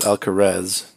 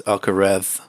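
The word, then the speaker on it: Alcaraz: two Carlos alare um I believe it's not pronounced alcarez it's alare like like your Mike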